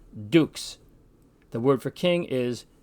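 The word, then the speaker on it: dux: Latin X this word which means leader is pronounced Dukes the word for King is Rees Z is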